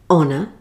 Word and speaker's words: honour: Here are a few more words with a silent H. Hour, honour, honest, exhausted, vehicle, and ghost.